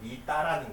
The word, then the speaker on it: 미타: 그래서 여기에 원래 맞는 발음은 미따라는 거예요.